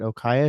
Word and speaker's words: OKA: bit more about what you guys do at OKA. Is that how you pronounce it?